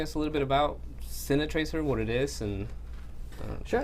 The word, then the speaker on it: Cine Tracer: That's how you say it. It's not Cinetracker, it's Cinetracer.